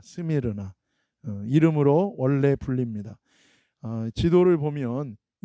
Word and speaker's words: 스미르나: 원래 이 헬라어 발음은 이 서머나가 아니라 이 스미르나입니다. 스미르나 이름으로 원래 불립니다.